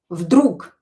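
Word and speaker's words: вдруг: Vdrug Maksim uvidel chto-to zhyoltoye v vode. Suddenly, Maksim saw something yellow in the water. Vdrug, suddenly. You can hear that I pronounce this g as k.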